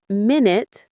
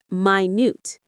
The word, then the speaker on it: minute: It's not minute, like the unit of time, but minute.